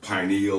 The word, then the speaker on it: pineal: it's going to stimulate the pineal or pineal gland, depending on how you want to pronounce it.